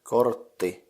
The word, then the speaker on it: kortti: Card is kortti, so the syllables in it are kort and ti. I have no idea what the syllable kort would be in some English word, but you can just try pronouncing it. Kort. And ti is just like the ti in tichu, So kortti, if you add it